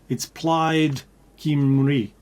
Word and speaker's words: Plaid Cymru: But it's Plaid Cymru, which spelt Cymru.